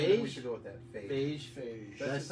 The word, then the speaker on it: Feige: Feige? That's Feige. No, Feige. I'm making it up. I thought it was Phage because beige spelled the same.